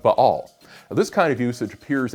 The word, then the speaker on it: Ba'al: consonant is o so the pronunciation of ba'al is closer to the original hebrew than either baal or bal which either change the vowel sounds or smoosh them together and drop the middle